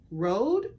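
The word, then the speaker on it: Røde: So I bought 2 of the Rode, I pronounce it Rode, but I think it's Rod actually, pod mics.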